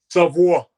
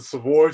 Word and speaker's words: Savoie: it in french the last name in french savoir savoir yeah my grandparents would always give me when i pronounced the savoy so now uh in honor of them i